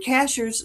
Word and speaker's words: Cashiers: And so, just go to sky ships over cashiers and cashers. You've got it spelled out there for people, but cashers is spelled just like a cashier at the grocery store, right?